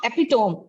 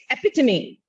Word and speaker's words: epitome: And it is not epitome, it's epitome.